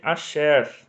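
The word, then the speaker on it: אֲשֶׁר: E quando for composto, eu pronuncio sempre de acordo com a vogal breve que acompanha ele, no caso o patá, então a palavra vai ser asher, né, a pronúncia.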